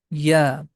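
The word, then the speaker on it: ياء: The name of this letter is Ya. Like that, we can write the pronunciation of this letter, Ya.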